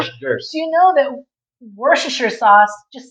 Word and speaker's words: Worcestershire: Do you know that Worcestershire sauce? Just say Worcestershire sauce. It's Worcestershire sauce. No, it's Worcestershire Or- sauce. But machine washing sauce. Worcestershire. Worcestershire. No, it's Worcestershire sauce.